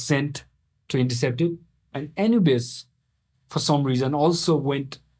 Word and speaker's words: Anubis: Spelled a n u b i s. Uhhuh. It's pronounced Anubis.